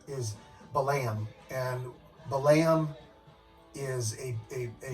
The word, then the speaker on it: Balaam: with Balaam and the angel that the actual pronunciation is the lamb and the lamb is a historical biblical figure